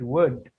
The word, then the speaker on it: would: to show you something in the words wood could and should the l is silent yeah it's not sound it's wood i'm joined in either